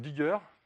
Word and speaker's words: dgr: Donc Digger, qui s'écrit DGR, comme Rocket s'écrit RKT, on s'est un petit peu inspiré là.